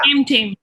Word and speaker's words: Prem Tame: Prem Tame. Yeah. Prem Tame, T-A-M-E Tame. So, it's not just Bengali Prem Tame.